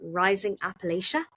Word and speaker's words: Rising Appalachia: I loved um Rising Am I going to pronounce this right? You you'll know if I'm pronouncing this right. Is it rising Appalachia? like you know them after the right. Yes. So um Yes. Very good.